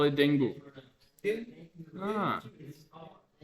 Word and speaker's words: dengue: Ah, they call it dengue. Dengue. Ah, Dengue. dengue. Dengue. Like dengue. Dengue. Dengue. G. Not K, like a G.